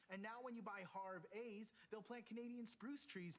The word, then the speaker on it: Harvey's: Actually, it's pronounced Harvey's with a Canadian EH.